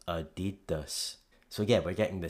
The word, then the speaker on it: Adidas: The main difference here, of course, is the stress moving from the first syllable to the second, from Adidas to Adidas. You'll notice that when we move that stress in English, applying the English rules of vowel reduction, the two A's become pronounced as schwas, so it becomes Adidas.